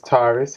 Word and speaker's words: Tarrice: name my name is tardes love it's pronounced like the zodiac sign tires tars and it